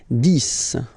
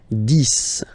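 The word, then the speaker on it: dix: 10. Okay, so remember, final X here is pronounced like S. 10.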